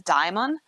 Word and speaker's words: Daemon: Like it was so interesting when they were talking to the Dragon Keeper and they were referring to Daemon as Daimon, and like that's obviously how you pronounce it in High Valyrian.